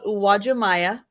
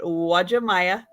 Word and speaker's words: Uwajimaya: made this name up but it is called Uwajimaya that's how you pronounce that Uwajimaya it is a very very popular store just